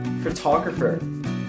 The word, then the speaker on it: photographer: example how to pronounce this word the correct pronunciation is photographer photographer if it happened to mispronounce it is